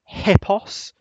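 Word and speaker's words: ἵππος: that's he then we've got p p o hipos which is Greek for horse like in hippopotamus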